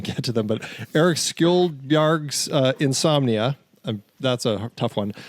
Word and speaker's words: Skjoldbjerg: Skjoldbjerg, yeah.